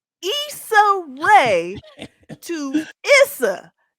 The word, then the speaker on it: Issa: Issa Rae sat down with her interviewer, Glenda McNeil.